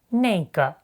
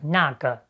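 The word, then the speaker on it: 那个: You might have noticed that Deng Chao says 那个 instead of 那个 and 这个 instead of 这个. That's simply a common northern pronunciation in China you often hear in everyday conversation.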